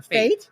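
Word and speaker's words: fête: So it's FET booth is kind of the traditional French That's what I pronunciation, but if you are kind of French Canadian, you do pronounce it more Fate. So a lot of the blues players call it Fate booth.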